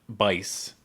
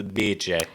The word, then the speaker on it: Bice: Is it Biche? Yes, I believe we decided yeah. it's not Bice. Okay. It is Biche.